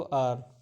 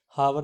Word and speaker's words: hour: HOUR pronounce करते हैं हम इसको आर, हावर नहीं बोलते हैं इसको, आर बोलते हैं हम, ठीक है, वो यूज एन।